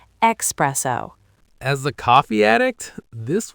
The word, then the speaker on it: espresso: I used to say espresso all through high school. There's an X in express, so your brain just wires it that way. I get the logic, I really do. You're expressing the coffee from the machine, right? But the word is Italian. It's espresso. E-S-P-R-E-S-S-O. No X.